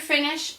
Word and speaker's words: finis: are finishing new finis you don't you don't pronounce that s because it's not careful right you are y'all